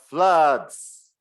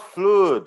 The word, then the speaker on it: flood: flutes are fun the floods blood blood my god it's not fluid it's flood uh lucas let me